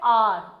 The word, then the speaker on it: hour: But actually I pronounce it like R, okay?